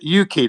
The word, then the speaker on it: Yuki: Yeah, Yuki. That's the pronunciation. That's Japanese, by the way.